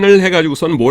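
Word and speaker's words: ναός: 지성소 , 거룩 한 장소 , 그리고 거룩 한 장소 지성소들 을 합친 것 , 이 부분 만 나오스 라고 도 불립니다 .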